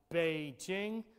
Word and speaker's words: Beijing: up to tianjin obviously the spelling of chinese words p king p e k ing is said and normally pronounced beijing b-e-i-j-i-n-g and if you're